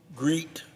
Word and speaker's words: GREET: market demand unfortunately rather than adopt the science-based Greet now I'm going to spell that because it's an acronym G re t